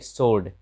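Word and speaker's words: sword: फिर right, right मतलब लिखना, यहाँ डब्ल्यू साइलेंट हो जाता है, सीधे राइट पढ़ते हैं। फिर सोर्ड, सोर्ड मतलब तलवार।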